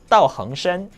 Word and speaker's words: 道行深: 그래서 정확한 발음은 道行深.